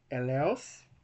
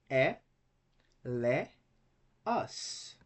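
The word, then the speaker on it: ἔλεος: So we cannot say it's e, leos. We can't say two because eo is not a diphthong. Okay? It's just two vowels next to each other. So we separate them and we had three syllables.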